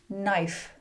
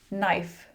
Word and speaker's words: knife: "Knife. Knife.